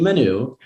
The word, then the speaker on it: Manoux: My full name is Manoux. Oh, wow. With a silent X at the end.